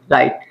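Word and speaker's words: write: आपको बताया था कि अगर डब्लू के बाद आर आता है तो वहां पे डब्लू वर्ड हमारा क्या होता है साइलेंट होता है ये चीज भी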